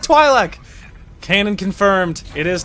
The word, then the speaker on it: Twi'lek: he said it right that's incredible he said twi'lek came and confirmed it is Twi'lek I always